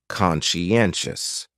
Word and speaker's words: conscientious: going on there so conscientious has four syllables and the stress is on that third syllable conscientious that second syllable is what really confuses people because that Sai almost sounds like you're saying she conscientious someone who is